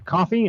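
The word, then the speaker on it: Ko-fi: You're the first people hearing about it, other than people who sponsor us on Coffee. I posted an announcement there too, even though it's spelled co-fi. I don't get it, but whatever.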